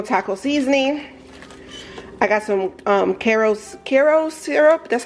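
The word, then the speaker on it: Karo: I got some Caro syrup. That's how you say it, Caro corn syrup for some baking.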